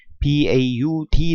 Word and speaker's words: baud: 때 통신속도 통신 속도는 baud 라는 단어를 씁니다 보라고 읽고 1초 동안에 1초간 송출